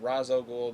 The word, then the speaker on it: Ra's al Ghul: like Kris no than that they called him Ra's al Ghul the show they call him rash videogames comers I don't know how to pronounce his name I guess you can pronounce